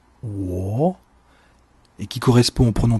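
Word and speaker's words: 我: Dans la syllabe que je vous propose, et qui se prononce wo, et qui correspond au pronom personnel je, l'accent est positionné sur le o qui compose la syllabe.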